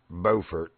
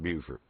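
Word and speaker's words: Beaufort: yeah I've been to bordt and yeah I know how to pronounce it it's not buer don't you dare call it Buford anyway it's bordt right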